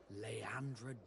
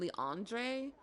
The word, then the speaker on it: Leandra: And I certainly don't regret not being called Leandra Darcy. If he hadn't said his name out loud, I would have like called him Leandre Darcy rather than Leandra, which is understandably the way the pronunciation is, because it seems like